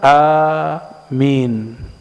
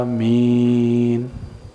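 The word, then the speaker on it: آمين: Banyaklah orang bertanya, sebenarnya cara baca amin itu gimana? Amin atau amin. Yang benar yang mana? Kayak tahu yang benar aja sih. Dalam ilmu tajwid, jika dua alif ketemu, maka dia dijadikan matnya panjang.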